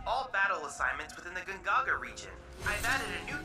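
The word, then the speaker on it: Gongaga: why Mai keeps pronouncing gun Gaga gagaga she's not saying she's not hitting the o n it's G Gaga G Gaga so when I heard her say the gajiani gagaga I was like excuse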